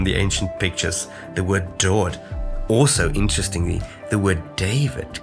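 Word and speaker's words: דוד: So you have a Dalet, and it's the word dod. Again, it gets a little O sound vowel point.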